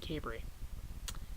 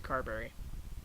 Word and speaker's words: Carberry: on this end anyways pronounced at cabery as opposed to Carberry or Cadbury so for years I